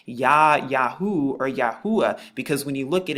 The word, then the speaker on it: Yahuah: name Ya Yahoo or Yahua because when you look at it now like this, you see the Yad Hey U, which makes the Yahoo sound, and then the A for Yahua, which is the name of our father.